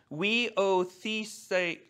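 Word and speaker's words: υἱοθεσία: And it's a long Greek word and it's pronounced weotheseia. And it's made up of two words. One is weos, which is a son, and the second word is thesis, a placing.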